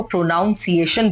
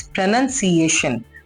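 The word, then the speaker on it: pronunciation: Like बहुत सारे लोग प्रोनाउंसिएशन को प्रोनाउंसिएशन बोलते हैं, which is wrong, it's प्रोनाउंसिएशन।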